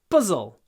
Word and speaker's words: puzzle: can't solve this puzzle try not to say puzzle puzzle pzz pzz puzzle you need to go quickly from the P to the Z puzz puzzle I can't